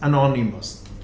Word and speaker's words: anonymous: So at the end of the word is us, anonymous.